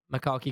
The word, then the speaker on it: Macaulay: the other one all right I think it's pronounced Macaulay Culkin Kali Culkin yeah you know who that